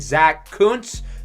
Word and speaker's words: Kuntz: With the extra roster spot, we're going to sign tight end Zach Kuntz.